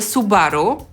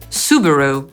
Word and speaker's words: Subaru: Dalej mamy Subaru. Nic takiego skomplikowanego, wydawałoby się. Po polsku akcentujemy drugą sylabę, bo mówimy Su-BA-ru, a po angielsku pierwszą – /ˈsuːbəruː/.